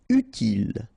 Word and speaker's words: utile: Utile. Final E not pronounced, so utile.